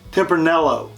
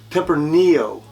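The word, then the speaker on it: Tempranillo: this is not pronounced temper nello it's temper Neo like a knee on the on your leg send your vase I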